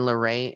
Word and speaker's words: Leray: for um koi I actually like the name it's spelled c-o-i and then larae l-e-r-a-y she's got my name in there larae